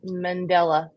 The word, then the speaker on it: Mandela: you accenting all three which one do you put the accent on mandala Mandela is how they say it if you go to Google and type in how do you say it it says Mandela Mandela okay Bailey says